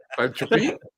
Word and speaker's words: Falköping: Because when we were discussing it on Slack, was it you put the pronunciation thing up, and it was something like Falköping, wasn't it? Yeah. Falköping.